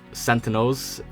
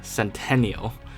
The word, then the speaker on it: sentinel: all the time was sentinels and sentinel beams being mispronounced as centennial so people would say